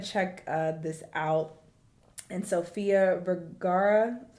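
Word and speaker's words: Sofía Vergara: definitely want to check uh this out and Sophia varara is how you say her name she's uh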